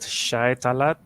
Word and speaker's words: Shae Tallad: I don't know how to pronounce that. Shae Tallad.